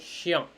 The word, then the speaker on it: chien: IEN is spelled like chien, chien, ian, like that.